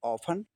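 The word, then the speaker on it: often: Listen अगली meaning ऑफन ऑफन देख लीजिए प्यारे बच्चों। ऑफन मीनिंग जब है तो उसमें एन अब ऑफन में क्या है? टी ई एन है तो टी साइलेंट हो जाएगा।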